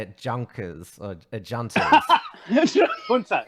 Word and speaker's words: junta: Junkers or juntas.